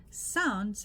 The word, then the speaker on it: sounds: Sounds has a very soft D at the end, not a hard one. So sounds. So it's almost like it's not even there.